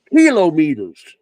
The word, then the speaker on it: kilometers: Kilometers. Exactly. That is the correct pronunciation.